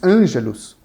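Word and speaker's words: ἄγγελος: que em grego Angel ou seja agelos como a pronúncia angelos significa mensageiro mensageiro em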